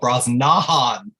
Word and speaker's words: Brosnahan: remember that time that angela bassett announced her and said rachel bras nahan yeah that's what i think of everything i love yeah and apparently she officially changed the pronunciation of her name after that as she should have because once once angela bassett pronounces your name that's how you're going to say it it's done call